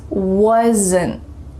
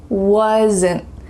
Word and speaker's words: wasn't: My cat wasn't playing. Can you guess which rule this contraction uses? Wasn't. Do you hear a little schwa sound added? Wasn't. In my throat here.